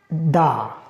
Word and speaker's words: the: word has started with vowel then we have to pronounce it the and if this is used before a word which a word has which word has started with consonant then you have to pronounce that da this is the main reason we sometime pronounce it the and sometime we pronounce it da if this information was